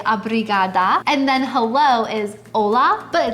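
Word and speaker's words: olá: And then hello is ola, but it's actually not an h o l. It's just o pronounced the same way.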